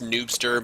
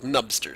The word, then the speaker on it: Nubster: soul eyes souls and nubster possibly supposedly pronounced noobster but if you're trying to do that then you deserve to be called nubster so this is a